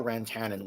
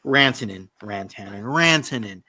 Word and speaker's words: Rantanen: Rantanen, Mikko Rantanen, not Mikko Rantanen.